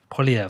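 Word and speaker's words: Poilievre: times how do you say his name Pierre poliev poliev that's it yeah he's uh putting some good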